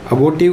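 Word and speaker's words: abortive: world इसे अबाउट यू किसी भी शब्द के बीच में ओ आर यू आर ए आर आता है तो मोस्टली हम आर को प्रोनाउंस नहीं करते इसलिए इसका जो उच्चारण है वो है अबो्र्टिव का मतलब होता है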